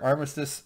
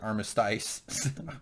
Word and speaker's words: Armistice: all kill each other Armistice or as James pronounces it armati what which is short